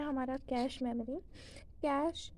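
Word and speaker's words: cache: कैश, इसे हम कैश pronounce करते हैं।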